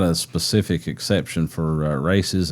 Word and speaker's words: RACES: but it's spelled races like car races.